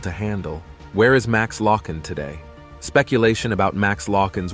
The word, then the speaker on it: Loughan: The video, titled "Where is Max Loughan?", featured one of the hosts incorrectly pronouncing Loughan's last name as Dugan.